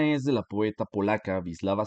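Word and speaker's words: Wisława: de la poeta polaca visislava SIM borska Sí ya sé que suena raro pero se pronuncia así visislava simbor no no sé polaco pero pues así se pronuncia no y el poema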